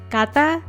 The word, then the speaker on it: Kantha: and she told me that it was actually pronounced Kantha.